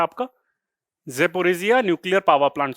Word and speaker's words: Zaporizhzhia: और आपका न्यूक्लियर आपका प्लांट है ज़ेपोरिज़िनिया, ZAPORIZHZHIA, ज़ेपोरिज़िया। इस तरीके से आपका प्रोनाउंस कर सकते हैं, अगर पूरा याद भी